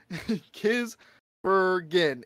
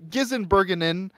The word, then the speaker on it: Gisbergen: you can't say it it's kiss Bergen it's three syllables and it is exactly how it's spelled but I swear to God we had gizenbergen we had we had